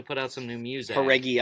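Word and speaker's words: Jauregui: I like the way you say her last name because you do not say it the way it looks. Oh, how do you say it? Haregi. Haregi. Yeah. How does it look? It looks like Juaregi.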